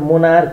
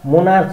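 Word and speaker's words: monarch: एमओएनआरसिएच मोनार्क हुन्छ, एसटियुएमए सेच इस्टोम्याक क हुन्छ, यसको क हुन्छ उच्चारण। स्टोम्याक स्टोम्याच हुँदैन स्टोम्याक हुन्छ, मोनार्च हुँदैन मोनार्क मोनार्क हुन्छ, इपो इपोच हुँदैन इपोक हुन्छ।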